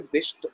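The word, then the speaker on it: बहिश्त: अच्छा, उच्चारणता यहाँ पर बिष्ट होगी, बिस्त नहीं होगी, क्योंकि ये जो बिष्ट अक्षर है या बिष्ट लफ्ज है ये अरबी भाषा से आया है और अरबी में स्वर्ग को बिष्ट कहा जाता था, ठीक है।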